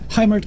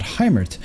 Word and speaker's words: Hymirth: Hymirth, I think is how you pronounce it, but anyways, on the bottom left hand side here of Dusk Towers, we've got ourselves Freak, sorry.